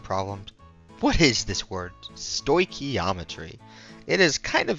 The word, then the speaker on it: stoichiometry: of this term and this is how you pronounce it stochiometry now look at that sto ometry the relationship